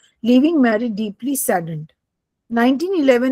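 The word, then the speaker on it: Marie: of madam क्यूरी वाज़ मार मारी मारिया नहीं इट्स मैरी स्क्लोवस्की डी is silent स्क्लोविस्की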